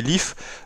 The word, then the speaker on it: LIF: à la sortie de LIF qu'on peut prononcer lift ou life ça dépend en tout cas nouveau